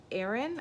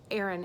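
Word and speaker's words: Aerin: up for the perfume company Aaron I think that's how you pronounce it this Aaron AE r i n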